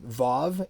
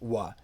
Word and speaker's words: vav: you probably know um vav is the sixth letter in the hebrew alphabet and it is pronounced va it is not pronounced wha nobody pronounces it that way and um unfortunately